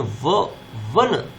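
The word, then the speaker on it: one: अब ओ आप बताएंगे कि ओ से तो इंग्लिश का स्वर है, लेकिन इसका उच्चारण हिंदी के व्यंजन से हो रहा है, ये ना वन, इसका उच्चारण ऑन नहीं हो रहा है, 1 रुपी नोट।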